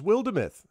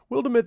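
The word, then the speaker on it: Wildermyth: wildemyth and i'm like what is wildemoth and he's like wildemyth this is really cool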